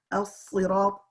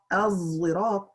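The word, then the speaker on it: الصراط: Because the sad pronunciation or a sad with a zai pronunciation as such, as-sirat, az-zirat, are tribal accents that are less known and not used in a spelling system widely, not by Quraysh.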